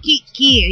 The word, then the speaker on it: kiki: ng salitang yan Oo kiki Yan yan po sa Leyte po ang kiki ay tinga kailangan pagbanggit natin maragsa maragsa maragsa ang pagpronounce ki ki yan nako kalerke talaga